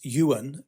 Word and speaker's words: Johan: that set it up his name is Yuan um which is spelled Johan but Yuan Yensen he's